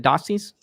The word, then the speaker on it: Dossey: cartoon postcards well fantastic is that how i pronounce it doxy's is that right okay awesome what's up tommy